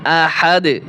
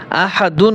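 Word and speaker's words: أحد: পেশ দুন আহাদুন কুফুয়ান আহাদ ওয়াকফ করলে আহাদুন হবে না আহাদ ওয়ালাম ইয়াকুল্লাহু কুফুয়ান কুফুয়ান আহাদ ওয়ালাম ইয়াকুল্লাহু কুফুয়ান আহাদ আমার সাথে সাথে শুরু থেকে বলেন কুলহু আল্লাহু আহাদ اللہ لলাম یلد ولم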